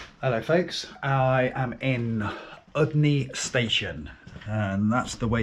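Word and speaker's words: Udny: Hello folks, I am in Udney Station, and that's the way you pronounce it apparently.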